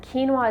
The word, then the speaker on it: quinoa: And quinoa is actually spelled Q-U-I-N-O-A, but pronounced quinoa.